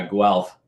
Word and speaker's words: Guelph: at home matthew graduated from the university of guelph is that how you say it sorry it's uh guelph guelph oh sorry uh with a bachelor's degree